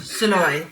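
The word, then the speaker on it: Szalay: Is David Soloi. Is that correct? Am I pronouncing it? You're pronouncing it very well. Soloi.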